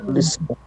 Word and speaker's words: policial: Policial. Primeira. Policial. Polícia. What? Primeira. Policial. Yeah, policial. Policial. And again, quick reviewing. Policial. The last L, Policial. yeah, has U Yeah. sound.